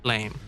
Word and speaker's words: Blame!: goes by the name Blame. It's also known as Blam, but for the sake of this video, I'll pronounce it Blame.